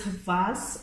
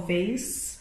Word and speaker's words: vase: we got is this vas or vase um depending on how you say it it's just a simple